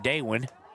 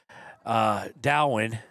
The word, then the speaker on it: Dowin: Going to hand off to Kale I keep mispronouncing that name, Daywin. And it's, that ain't 7. That's going to be an 8-yard gain there by Dowin.